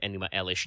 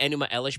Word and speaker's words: Enuma Elish: epic, the Enuma Elish, also sometimes written Enuma Ellis with no H on the end. I'm fairly certain you're supposed to pronounce it Enuma Elish no matter what.